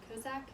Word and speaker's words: Cossack: how to pronounce this it's cossack or cossack kozak c-o-s-s-a-c-k so it's going